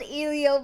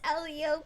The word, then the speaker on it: Elio: Jam wait really yeah I've been called ilio multiple times it's Elio please sounds like helium okay e Leo e